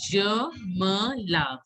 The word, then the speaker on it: je me lave: So how to pronounce je me lave?